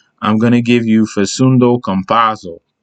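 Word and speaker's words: Facundo Campazzo: going to give you faceundo compasso i always got to say it like that with the accent but compasso has stepped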